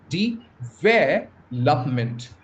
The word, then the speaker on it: development: And the stress the primary stress lies on the second syllable.